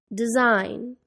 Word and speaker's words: design: silent L walk talk the silent G design assignment the silent n Autumn